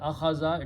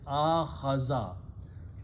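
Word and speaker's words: آخَذَ: It is not akhaza, it is akhaza.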